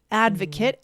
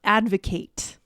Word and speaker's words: advocate: So the noun is the short it, advocate, and the verb is the A, the longer sound, advocate.